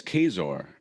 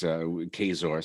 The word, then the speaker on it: Kaczor: In Polish, I think it's Kaczor, which literally translates to duck, like the animal, but it's Kazor. So I guess you could say the C is silent to pronounce it.